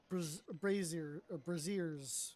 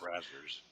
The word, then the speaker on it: braziers: deliberately telling him how to mispronounce things. I think it's Connell. Listen, I've had braziers for a long Braziers. time. Flaming braziers. So I said, yours are brazzers.